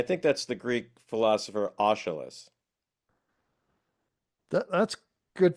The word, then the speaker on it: Aeschylus: And I think that's the Greek philosopher Aeschylus. That's good pronunciation, Dan.